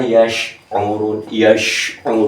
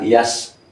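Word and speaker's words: يشعرون: Tapi kalau secara dawam mengucap walakilla yash'urun, bukan yas'urun, ya.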